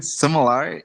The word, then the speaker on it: sommelier: So I googled checked it because it's a French word. So Yeah. so sorry I pronounced it wrong at first, but it's French. It's a sommelier.